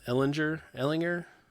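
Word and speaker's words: Ehlinger: Ellinger, Hard G. Yeah, I think so. It's Hard G.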